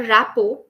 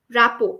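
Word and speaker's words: rapport: that I have a knack to build a rapo with anyone rapo r a p p o r t RT is silent here Rao means that jelling with someone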